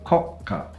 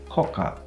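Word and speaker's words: 国家: take that word and pronounce it as koka, without the small tsu, without the gemination, nobody will understand you.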